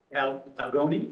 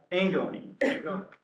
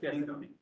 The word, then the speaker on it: Angoni: Algoni. Is that it? Yeah. How do you say your last name? Angoni. Yes, Angoni.